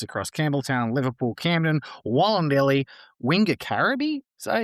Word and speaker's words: Wingecarribee: This investment is anchored by a $400,000 funding commitment that supports 23 clubs across Campbelltown, Liverpool, Camden, Wollondilly, Wingecarribee. Did I say it pronounced that? Wingecarribee.